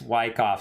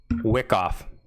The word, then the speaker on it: Wyckoff: time it's upside down it's Wyckoff stop saying around crypto kid Wick off Wick off all right we're picking